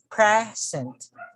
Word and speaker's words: present: on the first syllable if it is a verb the stress falls on the second syllable just like the examples